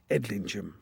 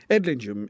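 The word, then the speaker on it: Edlingham: Only in Northland does the pronunciation change and become Injum as in Witchingum or indeed Edlingum. Edingum is a really worthwhile detour.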